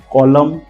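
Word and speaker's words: column: कॉलम, him, autumn, कंडेम एंड डैम। ये पांचों spelling में MN का कॉम्बिनेशन है, एन को हमने प्रोनाउंसिएशन नहीं किया।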